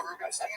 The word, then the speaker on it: Rubenstein: Yeah, I'm Rubenstein. People mispronounce it all the time, too.